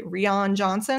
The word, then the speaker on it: Rian Johnson: I did not realize the director, how do you say, Rian Johnson? It's Rian, Rian Johnson. It's just Rian.